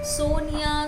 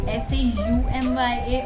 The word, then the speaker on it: Somya: me any nicknames, but people do not pronounce my name right, so people call me Soumya, Sonia, Sonia, Soumya. And also the spelling of my name is not correct. It should be Saumya or Soumya, but it is Somya.